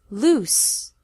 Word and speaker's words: loose: Loose, with an S sound.